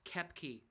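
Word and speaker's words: Koepke: be the yetis so uh yeah uh it's pronounced k key it's spelled k o e p k and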